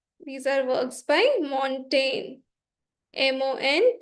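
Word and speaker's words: Montaigne: works by mon these are works by mon m o n t a i g n e mon Now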